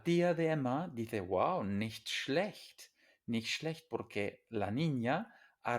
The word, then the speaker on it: nicht: Pero en estas dos palabras, nicht, schlecht, la I y la E son anteriores, vocales anteriores y entonces nicht schlecht, ¿vale?